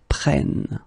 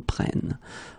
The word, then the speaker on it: prennent: Okay, keep in mind that you should pronounce it prenons, vous prenez, and then the last one, the tricky one, ils prennent. Okay, ils prennent.